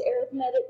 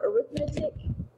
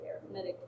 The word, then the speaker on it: arithmetic: arithmetic sequence yes it's arithmetic not arithmetic go all English on you here for a second when it's a noun you pronounce it one way when it's an adjective in this case it's